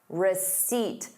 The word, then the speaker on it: receipt: Receipt. There is no P in the word receipt.